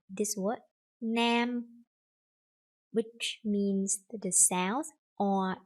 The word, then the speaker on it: Nam: You see Nam, but they don't say Nam. They will say lamb. Like they pronounce that in the wrong way, and it's like their habit to do that, and they have to correct that.